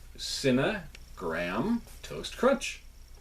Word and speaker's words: Cinnagraham Toast Crunch: So I just realized it's Cinnagraham Toast Crunch.